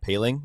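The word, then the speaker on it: Poehling: The one thing, speaking of Jake, Ryan, I believe it's Ryan Paling is how you pronounce his name.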